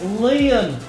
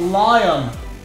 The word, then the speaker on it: Leon: Galadon, it's Leon, not Lion.